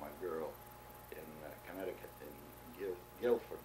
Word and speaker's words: Guilford: A letter that came to me from a girl in Connecticut, in Guilford, my brother says it's called, pronounced not Guilford, Guilford.